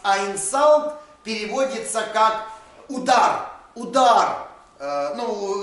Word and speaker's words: инсульт: Нельзя эту букву читать как «у». Она как «а» читается между согласными. Но однажды кто-то неправильно, и с тех пор, то есть слово «диагноз инсульт» – это на самом деле «инсалт», а не «инсульт». Ну ладно, уже так исторически сложилось, пусть будет «инсульт».